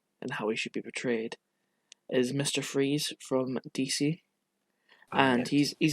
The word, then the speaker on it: Fries: good backstory his his his actual name is victor freeze it's spelt like fries so it's like a german name i believe i see